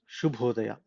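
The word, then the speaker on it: ಶುಭೋದಯ: So there is one symbol on top of S that makes it Sha sound. Okay, so it is Shubhodaya.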